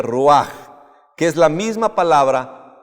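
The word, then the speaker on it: רוח: de vida es rúa se escribe roig se pronuncia rúa que es la misma palabra para espíritu el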